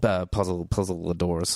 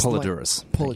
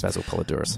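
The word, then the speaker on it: Poledouris: One of my all-time favorites, Basil Puzzle-Adoris, or however you say his name, who I'm going to figure out how to say his name properly, who composed, obviously, the wonderful, wonderful score to Conan the Barbarian. Yes. But yeah, in this Polydorus. Basil Polydorus.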